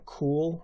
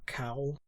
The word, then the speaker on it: Koul: It had Imugis, though they called them Kool or Kowl. It's spelled Koul, but the description of